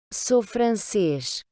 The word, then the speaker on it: Sou francês: français, vous allez dire Sou francês. donc so, le OU, rappelez-vous, on le prononce O, so, et le S final, ch.